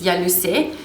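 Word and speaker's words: Ialuset: say about this, is the Yalusé, or Yalusette, if it's in French it's Yalusé, crème, 100 grams.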